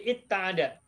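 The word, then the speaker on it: اتّعد: Tetapi khusus kalau huruf fa'ilnya berupa wawu, wawunya diubah menjadi ta, sehingga menjadi itta'ada. Tapi nanti akan kita bahas lebih jauh pada pertemuan yang akan datang.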